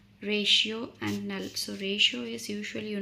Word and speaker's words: rational: The rational is pronounced as ratio and null.